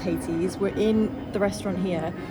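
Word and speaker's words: Colonel Hathi's: And we are currently sat in, let me see if I can swing around, Colonel, I think it's pronounced Hattie's.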